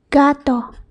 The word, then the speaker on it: gato: If the G is with a, o, u, then it's pronounced as g. G. For example, gato.